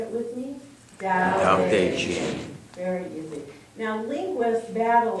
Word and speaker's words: Tao Te Ching: And even though it has T's and C's, it's pronounced Tao Te Ching. Would you say it with me? Tao Te Ching.